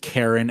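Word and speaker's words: Charon: It's because it's Karen. That's how you pronounce the ferryman of the dead. I guess they couldn't have Karen and They couldn't Milton be save the world from a Karen, cult.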